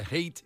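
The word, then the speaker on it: Haight: And so, the hate in Elgen, it is spelled H A I G HT.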